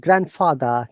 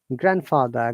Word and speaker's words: grandfather: Okay, any word that has got grand, yeah, like grandfather, grandmother, not grand, grandfather, grandmother.